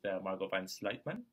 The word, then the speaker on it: Margot Van Sluytman: We're very lucky we're here with Margot Van Sluytman. Thank you. Did I pronounce it properly?